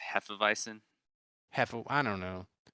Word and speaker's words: Hefeweizen: and caffeine say that again it's a heff and weisen and they used it yeah and they infuse and infuse it with uh coffee and um caffeine i'm pretty sure it's supposed to be pronounced hefeweizen half of i don't